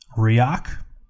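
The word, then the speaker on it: Rexach: This is Riach. It's spelled R-E-X-A-C-H.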